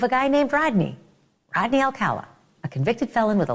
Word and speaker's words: Alcala: red flag following year Rodney Alcala was the way it was actually pronounced um he a 12-year-old